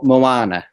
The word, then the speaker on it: Moana: to Find Them well actually let's go with Mona first Mona is that am I saying it right Mona Mo Moana Moana okay that is almost 300 million so